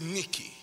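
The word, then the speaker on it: νίκη: ke but from the Ebru word that is Nikki which according to Strong's Concordance means to carry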